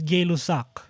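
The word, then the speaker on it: Gay-Lussac: gay gay luzak's law i'm not sure if actually if it's pronounced gay lux or gay lucks or guy loss it's it's it's a french name and sometimes french have uh different ways of pronouncing it right but uh in some videos i in some videos i check it's gay lusak so gay luck's law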